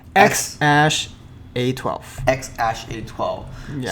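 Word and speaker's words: X Æ A-12: X-Ash A12. X-Ash A12. Yeah. So the ash is the A and the E meshed together, like American Eagle symbol or Yes.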